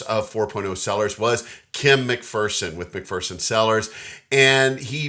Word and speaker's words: McPherson: have seen this before and thought it was pronounced mcferson a lot of people do pronounce it mcferson